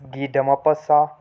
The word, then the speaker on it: Guy de Maupassant: and his writing style so the name is pronounced as ghee dama passa and he was born in 1850 in france